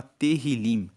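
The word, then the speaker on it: Tehilim: Inclusive o livro de Salmos no hebraico, que é o texto original da Bíblia, se chama Terrilim, que se escreve T E H I L I M.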